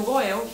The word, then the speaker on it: Goel: também vai usar aqui, que eu também vou dizer como se fala. Que é o Goel, que é o símbolo de resgatador.